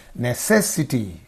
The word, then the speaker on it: necessity: Necessity. Necessity. Because when you cut the word in, necessity into syllables, whatever. Ne-ses-si-ti.